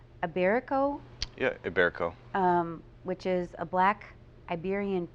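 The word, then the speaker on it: Ibérico: Am I pronouncing this correctly? Iberico? Yeah, Iberico.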